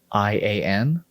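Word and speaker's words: Valyrian: Valryrian.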